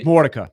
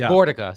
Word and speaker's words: Mordica: I hope I'm pronouncing this correctly. Frank Mikica had his jersey Frank Mortica. Frank Mordica, sorry.